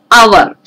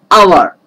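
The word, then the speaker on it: hour: are not pronouncing it as power it is our h is silent our the first sound is uh sound is actually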